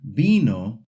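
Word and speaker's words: vino: So, when you see the word bino with a V, you actually pronounce it like it has a B.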